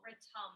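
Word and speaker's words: ritam: that just so beautiful ratom the rhythm of the universe i like to think of it being imperfect harmony return is r-i-t-a-m but it's pronounced like there's a u so our mantra is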